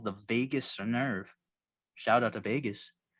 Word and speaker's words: vagus: So basically, when you breathe, there's something called the vagus nerve. Shout out to Vegas. Yeah. Is that really what it's Spelled called?